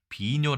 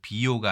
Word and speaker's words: 비뇨: 우리 사전을 보도록 하겠습니다 비뇨 아고 얘기하면 오줌을 만들어 배설한다 원래는네 두 법칙에 의하면 이게 요라고 발음해야 되지만 예 앞에 있는 글자가 아니기 때문에 그냥 원래 발음대로 뇨로 읽는다 그래서 비요가 아니라 뇨가 된다 비뇨기 있죠 오줌을 만들어